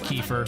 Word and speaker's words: kefir: Oh, it is Kefir. Definitely. Okay. I've been pronouncing it wrong for a long, long time. I like Kyifer better.